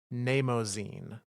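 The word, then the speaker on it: Mnemosyne: Uh, and the book comes to us from the Witch Queen, and it is spelt very strangely, but pronounced, because I looked it up, Nemozine.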